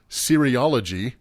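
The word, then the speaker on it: cereology: You say it sounds like serial. It's c e r eology.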